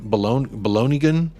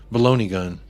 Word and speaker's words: Balogun: Balonigan? Balogun.